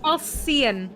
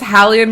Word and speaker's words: Hallian: Halcyon. Nope. Halcyon. Nope. It's Hallian because it's alien with an H, so therefore he has to be an alien.